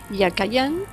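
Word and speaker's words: יכין: La palabra Joaquín en hebreo probablemente se pronunciaba Yakayan y significaba como sustantivo verbal el que fortalece, y de ahí firme, estable o erguido.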